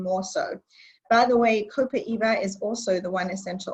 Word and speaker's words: copaiba: cool I have one two yeah so we pronounce this copaiba it's very versatile and it's actually great smelling